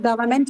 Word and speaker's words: government: But in case of government, where is the stress? It's in the second syllable itself.